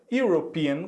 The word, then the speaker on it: European: european é só porque na pronúncia agora nós vamos dizer olha só european european é como se nós começássemos aqui com a letra y y em inglês nós sabemos que é ato letra uai então vejam só na hora de fazer a pronúncia a primeira letra que eu vou pronunciar é letra y european you hope and como